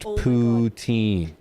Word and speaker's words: poutine: It's pronounced poutin. That's what I said. A poutine.